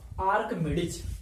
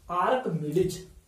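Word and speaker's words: Archimedes: एम ई डी एस, इसको पढ़ते हैं आर्कमिडीज, आर्किमिडीज नहीं पढ़ना है, सी एच से क भी होता है उसको उच्चारण करने में, इसलिए आर्कमिडीज पढ़ना है इसको, आर्कमिडीज इज द फादर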